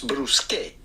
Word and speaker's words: bruschette: Now, in plural version, in Italian, an S but transform the A at the forms bruschette. Several bruschettas, well, you would know bruschette.